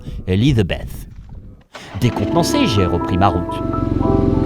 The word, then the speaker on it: Elisabeth: pas y croire, Elisabeth, à prononcer à l'anglaise bien sûr, Elizabeth.